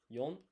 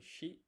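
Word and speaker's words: 四: yon or shi written like this in hiragana written like that in kanji.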